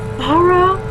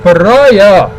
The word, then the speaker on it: pariah: treating you like a Farah the next. I don't know how to pronounce that word. Pariah. Fuck it. She pronounces it wrong because she's Bella. That makes perfect sense for me. It's pronounced pariah.